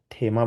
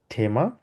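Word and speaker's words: Thema: এটাকে বলা হচছে ডাস হয় আমরা বলি ডাসথেমা থেমা মানে হচ্ছে টপিক থেমা বলি আমরা এটাকে ঠয়ের মত উচ্চারণ করি থেমা ডাস ক্লিমা ক্লিমা মানে হচ্ছে বলা যায় হচ্ছে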